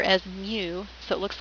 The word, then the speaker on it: mu: and then the mean of a population we pronounce this Greek letter as Mu so it looks like a letter U and